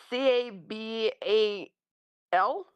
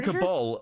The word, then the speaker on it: cabal: How do you spell How How do you spell Cabal? Isn't it like C A B A L? So, why are you saying Cabal like there's an O in it?